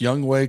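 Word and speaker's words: Younghoe: It's pronounced Young Wei Koo. Young Wei. Okay. But it's spelled Young Who. It's spelled Young Ho.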